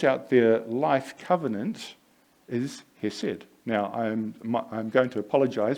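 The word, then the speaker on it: חסד: Now in Hebrew, the word for somebody who lives out their life covenant is hesed. Now I'm going to apologize because I'm not actually pronouncing it correctly.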